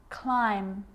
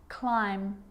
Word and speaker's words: climb: It's always silent when it follows the letter M. Climb, crumb, lamb, thumb, dumb, and plumber.